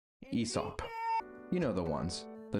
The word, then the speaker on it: Aesop: Aesop. Aesop.